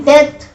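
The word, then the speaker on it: debt: But pronunciation जो आप बार बार डेप्थ डेप्थ डेप्थ बोलोगे वो गलत है, इसकी प्रोनाउंसिएशन है डेथ।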